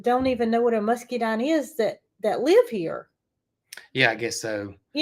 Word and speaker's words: muscadine: And we say muscadine. I know it's spelled different than that. I think the pronunciation is muscadine. But everybody around here says musky. I don't know why the E's there.